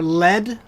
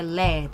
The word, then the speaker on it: lead: you have any extra lead for a mechanical pencil yeah so you have to say led the pronunciation is a lead not lead yeah to refer to